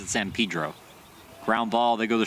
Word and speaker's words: San Pedro: Yes, he pronounces it San Pedro.